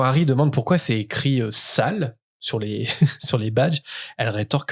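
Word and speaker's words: S.A.L.E.: Dans la boîte se trouvent justement des badges avec écrit S-A-L-E. Quand Harry demande pourquoi c'est écrit sale sur les badges, elle rétorque que non, ça se prononce S-A-L-E pour Société d'aide à la libération des elfes.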